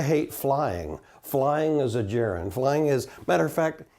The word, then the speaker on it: gerund: Okay, gerund with a soft G.